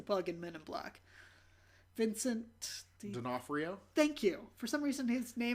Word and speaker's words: Vincent D'Onofrio: It's live action because I can't know Vince DiFornio. I don't know how to pronounce his name. He was the bug in Men in Black. Vincent D'Onofrio.